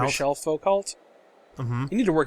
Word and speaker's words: Michel Foucault: world is that he throws the ball to Michael Foucault. Michel Foucault? Mm-hmm. You need to work on your pronunciation.